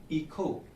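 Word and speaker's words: hija: आचे को हम अंग्रेजी के एच की तरह लिखते हैं, मगर ये स्पेनिश भाषा में आचे हमेशा साइलेंट रहता है। आचे से बनने वाले कुछ शब्द हैं ईखो या ईखा, ईखो या ईखा।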